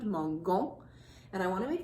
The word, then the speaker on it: mangeons: So if we looked, soft G sounds are G-E and G-I.